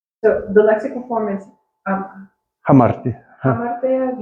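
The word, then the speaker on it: ἁμαρτία: So the lexical form is Hamartia. hamartia. You pronounce the hard. Yeah, it's hamartia. Okay, Hamartia.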